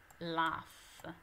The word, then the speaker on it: laugh: Questo suono qui si legge F. F come fanale, laugh, ok?